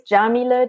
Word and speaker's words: Yamile: from Ohio awesome so again my name is Jamila JA that's how you pronounce it and you can find me at